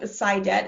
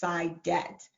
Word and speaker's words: Saidat: My first name, Saidat, is Arabic, and it's actually pronounced Saida, but my dad is from Nigeria, and so the pronunciation is Saidat, and that means profitable and happiness.